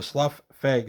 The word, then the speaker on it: Slough Feg: a comic book character who would assume other people's skins and then Slough them off so Slough FEG seems to be the most likely pronunciation this is a an